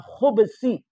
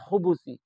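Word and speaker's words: خُبُث: jin-jin dan wanita bab ada juga ulama yang membacanya Minal khubsi Bukan khubusi tapi khubsi huruf bnya di sukun namun yang benar ialah ya yang bnya ya yang bnya didomahkan Minal khubusi wal khais nah sedangkan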